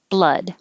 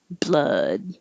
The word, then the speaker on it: blood: a bl combination i'm making my l inside touching the top behind my top teeth before i open my b blood so there's no delay blah blah blah then i have to go back up for the d and the vowel is uh blood society society and these